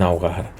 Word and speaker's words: ahogar: pasa lo mismo en ahogar recordamos que la H es muda por lo tanto no la pronunciamos si no tiene una realización ni fonética y nada parecido vale como esta Unión choca